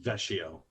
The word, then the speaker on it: Vecchio: Bill Vecchio. Am I pronouncing your name wrong, It's Bill? Vecchio.